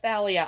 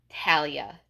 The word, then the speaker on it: Thalia: I love Thalia and you do pronounce it asalia I wasn't sure and I've been pronouncing it right all these years like it was kind of hard to be sure people pronounced it both ways because one th makes the thus sound but for another the thus sound does not exist in Greek I believe so it would have been Talia to Greek people I